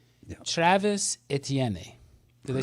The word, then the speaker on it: Etienne: Number 1, Travis Etienne.